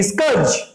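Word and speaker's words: scourge: स्कर्ज, देखिए pronunciation देखिए, इसको स्कर्ज बोलते हैं, स्कर्ज। ये आर साइलेंट रहता है।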